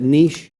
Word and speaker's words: niche: We pronounce that niche. Heard it both ways.